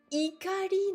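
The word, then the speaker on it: 怒り: Donc, en criant cela, Ikari no tame ni, ikari c'est la colère, à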